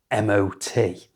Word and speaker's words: MOT: This one is always said as the letters MOT.